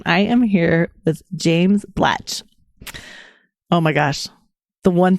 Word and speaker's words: Blatch: I was called Mr. Blatch with a P at the weekend, which is not uncommon. But yeah, Mr. Blacks, Blatch is exactly correct.